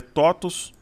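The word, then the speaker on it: TOTVS: autonomia operar esse ativo totos n que se escreve toes mas se lê totos é um bom ativo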